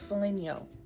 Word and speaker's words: Foligno: I had to look up the pronunciation because I think it's Italian. Blessed Angela of Foligno, the patron saint of sexual temptation.